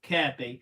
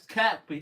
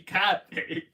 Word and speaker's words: Kirkby: It's spelled Kirkby, but it's pronounced Kirby. I know, that's the thing. I know I always get someone saying that because I said it as Kirkby, don't I?